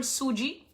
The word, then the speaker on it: sooji: is cream of wheat which is also called suji if you go to any indian store you'll